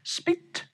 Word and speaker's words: spit: 家不要学啊，OK， follow me， spit， spit， spit，记住啊，不要